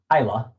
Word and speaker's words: Gila: think it's the it's it's spelled g-i-l-a but i believe it's pronounced hyla or gila a reservation